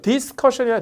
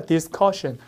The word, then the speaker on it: discussion: discussion이라 discussion. 왜 그러냐면 얘로 끝났죠. SION으로 끝났기 때문에 바로 앞에 오는 이게 모음이에요.